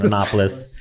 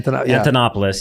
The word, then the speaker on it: Antonopoulos: it was Andreas uh I can never pronounce his name right an anopolis an Antonopoulos yes and and and I